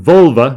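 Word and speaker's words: völva: sorceresses they were called the vulva there's no other way to pronounce it it's not a reference to female anatomy it's an older word associated with the staff that these sorceresses uh carried it's not related to volvo which is related to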